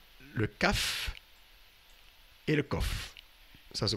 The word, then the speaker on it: Qof: le CAF et le COF ça se prononce que le CAF est identique à COF et se prononce tous deux CAF alors le mot euh